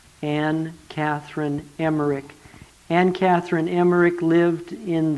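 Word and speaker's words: Emmerich: David was an Catherine an Catherine Emer Emer is spelled e m m e r i c h an Catherine emerik an Catherine emerik lived in the late 1700s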